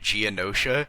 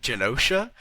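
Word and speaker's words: Genosha: I find it very funny you're calling it Geonosha. It's Ganosa Janosha. And you're mixing Geonosis and Janosha.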